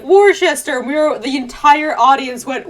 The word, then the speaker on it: Worcester: city and we all go worcester i know it's spelled worcester but it's worcester i know i know it's terrible but that's